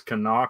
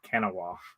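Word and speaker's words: Kanawha: learned he know knows that it is Cana County West Virginia not Cana the first time I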